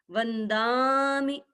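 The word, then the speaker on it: वंदामि: छोटा होता है पीछे तो नमंसामी ऐसे नहीं बोलेंगे, वंदामी ऐसे नहीं बोलेंगे, वंदामी। थोड़ा सा दा को लंबा करने से और मी को थोड़ा जल्दी छोड़ने से उच्चारण शुद्ध हो जाता है। वंदामी, नमंसामी।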